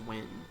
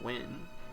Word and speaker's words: Nguyen: Nguyen, I think. It's like pronounced Nguyen, or just Win.